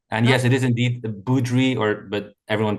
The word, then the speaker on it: Boudry: Joining me today is Martin Budri or Bowri is the more American pronunciation which he's let me know he's also all right with.